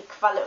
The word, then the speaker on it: Qualle: Q is always followed by U, and then it's pronounced kv, like KV in English. Kv. A German word for that would be Qualle, for example, or Quark.